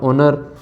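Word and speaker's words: honour: आर आवर एच ओ एन ओ यू आर ओनर यह कुछ word है जिसके आगे जो एच होता है और इनमें एच साइलेंट रहता है और ए एन का प्रयोग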